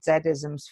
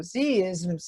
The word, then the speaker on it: Z-ism: I I I I I must admit I pronounced it zms first and I thought what's aism and then I read the the beginning of the book and it said oh Z isms okay you see the isms okay and it's